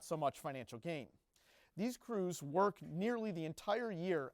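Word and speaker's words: krewes: And when I say crews, it's spelled with a K.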